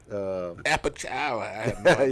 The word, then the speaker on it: Apalachicola: Apalachicola.